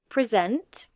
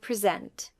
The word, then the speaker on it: present: Say these words. Record, noun, and record, verb. Present, noun, and present. Permit, noun, and permit, verb. Contrast, and contrast verb. Object noun and object verb. Notice how the meaning changes with stress.